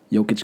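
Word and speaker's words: Jokić: Jokic, that's how you pronounce it?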